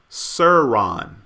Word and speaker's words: Sharon: And yes, it's pronounced Suron.